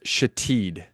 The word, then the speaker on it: Shithead: But the one that takes the cake was Shatid, and that's spelled shithead.